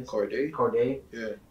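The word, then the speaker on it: Cordae: I would like to see that because I was just watching YBN Cordone, I think his name is. Corday. Yeah. I said his name wrong.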